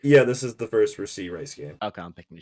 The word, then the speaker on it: Rashee Rice: Yeah, this is the first Rasheed Rice game. Okay, I'm picking the Chiefs then. Say his name, fine, real quick. Rashee Rice? Rashee, right? Yeah, Rashee Rice.